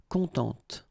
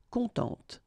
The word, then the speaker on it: contente: add this e, and then phonetically it will be a bit different. It will be contente, okay? So masculine, content. Féminin, contente.